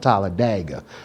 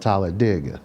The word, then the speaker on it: Talladega: You know, Talladega. You know. So Talladega. I like it. Yeah. People that's not from there call it Talladega. But we from Talladega. there, we call it Talladega.